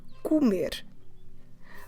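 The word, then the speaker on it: comer: and at R so all the infinitives we need to stress the last syllable so to eat is the verb Kumer spell it let me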